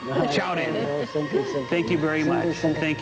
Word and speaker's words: 超人: Chaorin. Chaorin.